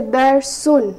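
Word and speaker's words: دَرْسٌ: So I'll say dar sun. So it will be pronounced with an N sound in the end.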